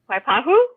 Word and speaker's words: Waipahu: Were we pronouncing that properly? Waipahu? Yeah, we got it right. We got that right. Okay, we just You can throw the Filipino in there and go Waipahu.